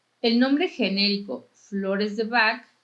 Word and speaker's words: Bach: como flores de bach el apellido de bach es de origen galés y la pronunciación de de la h bach es similar a la castellana y no como en los músicos alemanes de apellido tomógrafo que se pronuncia bajo solamente para saber un